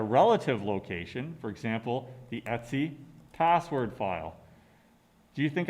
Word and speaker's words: etc: the file root system in the etsy directory which is just a different pronunciation etc right there is this